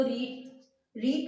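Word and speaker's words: read: तो रीड का third form क्या होता है? रेड। Spelling will be same but pronunciation will be change. बोलेंगे अलग तरह से और लिखेंगे सेम स्पेलिंग।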